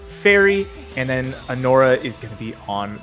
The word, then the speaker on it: anora: We're going to be having uh No So Cute Boss is one of them, and An Ora, that's how it's pronounced.